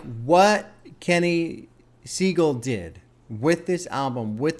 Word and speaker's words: Siegel: though, is Kenny Siegel, who I guess is pronounced Siegel. I was correcting myself the whole time, so much so that now I call him Kenny Seagal on purpose, and now I got to correct myself again half the time.